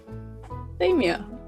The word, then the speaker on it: macadamia: Maybe the academic pronunciation. Yeah. I do not care. It's macadamia.